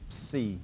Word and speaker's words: Psi: sound so Phi Chi the next letter is Psi like a PS sound Psi so practice is saying